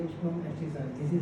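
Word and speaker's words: abscissa: ठीक है, और ये कहलाता है पॉइंट पी का एब्सिसा, एफ सी I double S, ये भी साइलेंट जैसा ही है, एस एब्सिसा, एब्सिसा, this is called the एब्सिसा, और इसको कहते हैं ऑर्डिनेट।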